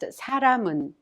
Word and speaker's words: 사람은: The final consonant 미음 in 람 of 사람은 is prolonged with 은 and is thus pronounced 사람은.